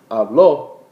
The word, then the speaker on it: habló: When you say habló, you're saying he or she spoke. If you're saying hablo, I speak. So that accent on the O is very important to use in the preterite.